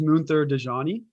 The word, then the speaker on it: Munther Dajani: Pronounce your name for my listeners because I know I didn't pronounce it correctly. Yeah, so my name is Munther Dajani with Elumin Agency.